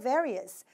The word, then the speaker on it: various: 이번엔 좀 더 다른 표현을 써서 various. 이것도 많이 쓸 수 있으니까 우리가 한번 같이 발음해 볼게요. various라고 얘기를 하시면 되겠습니다. V 발음 살려서 발음해 주시면 되겠어요.